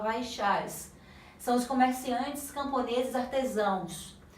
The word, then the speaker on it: Vaishyas: As pernas se escreve Vaisyas, mas se fala Vaishyas.